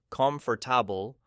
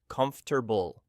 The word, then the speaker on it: comfortable: Many advanced learners say comfortable pronouncing every syllable but natives say comfortable.